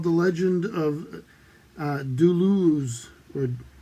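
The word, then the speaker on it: Duluoz: the legend of uh duluz or dulu oz d-u-l-u-o-z i think there's three syllables in it the luaus or something but it's it's an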